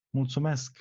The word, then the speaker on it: Mulțumesc: Mulțumesc.